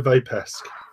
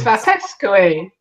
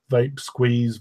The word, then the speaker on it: Vapesque: We're Vapesque. It's Vapesque. Exactly. So James used to ring the shop regularly, asking for vape squeeze, vape skew.